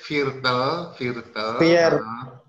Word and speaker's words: Viertel: Es ist Viertel. Viertel for 2. Ya, betul. Hanya saja membacanya bukan Viertel, tapi es ist Viertel ya. Jadi I-nya agak dipanjangin saja Pak Koko.